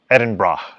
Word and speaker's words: Edinburgh: says if you're going to edinburgh it's in pronounced edinburgh edinburgh edinburgh so or pittsburgh which you've got